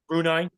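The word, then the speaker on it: Brunei: China November of 2015 situation and Bui oh brunai okay I'm sorry how do you say it brunai okay after a failed coup I don't think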